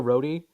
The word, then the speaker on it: Rohde: Well, you know how I remember Joe Rohde? Is because you pronounce it O-D, right?